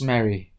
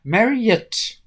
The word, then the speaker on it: Marriott: "Yes, Miss Mary." Her name's Miss Marriott, but his inability to pronounce the last syllable of her name had a strange, disturbing effect on Miss Marriott.